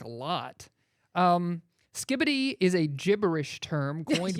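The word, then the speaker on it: skibidi: It is pronounced skibbity.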